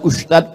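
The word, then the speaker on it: Ustadz: Enggak salah secara bahasa Indonesia, tapi secara bahasa Arab. Bahasa Arab itu ada huruf za, ada huruf ja, ada huruf d, ada huruf dza. Dza. Letakkan ujung lidah di atas gigi. Atas gigi atas. Dza. Dza. Permisi, Pak Ustaz.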